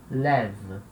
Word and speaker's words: lève: Na terceira pessoa do plural, il, elle, vai acontecer o que aconteceu lá no singular, né? Porque a última sílaba é uma sílaba fraca, então a vogal E que vem antes, ela ganha o som de E e ganha um acento grave.